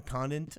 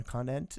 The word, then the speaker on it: Conant: overall Right End yes it's like Co n a Conant a Conant yes that's right the defensive end uh